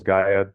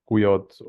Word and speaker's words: GUYOĐ: Especially in the Slavic countries, they call us gu because of the the D is uh pronounced like a J in uh in Croatia for example.